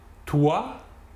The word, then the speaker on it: toi: Troisième exemple, si l'on rassemble la lettre O et la lettre I, l'ensemble OI se prononcera OUA. OUA.